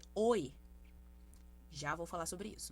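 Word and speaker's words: ㅚ: Aqui nós temos a vogal, a escrita sendo OI. Ok? Porém, a pronúncia vai ser OE.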